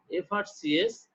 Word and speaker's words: FRCS: N is used if acronyms, you know, acronym, short name, or abbreviated words are pronounced like vowel sound. So when short name or abbreviated words are pronounced like vowel sound, that time we need to use N. Though letter is consonant, but we'll use N. Suppose FRCS, N FRCS, F. When we utter FRCS, F, so a sound is